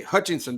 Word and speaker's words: Hutchinson: All right, going up the table, it's been like almost a half a season of Coach John Hutchinson. I'll get it right one day. Hutchinson, did I say it right, Yeah, Joe?